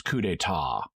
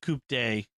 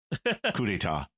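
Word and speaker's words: coup d'état: despite the universal translator, cannot pronounce coup d'etat. And it's just so awkward and lame the way that line gets delivered and is written. Right. Yeah. No stupid coup de. Right. It's French.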